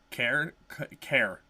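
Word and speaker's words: Cairn: what is it uh care care but it's spelled c a i r n it's something to do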